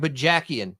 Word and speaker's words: Bajakian: talk about him real fast I can't even pronounce his last name you might have seen yeah it's Mike B jackan so you may have seen him on the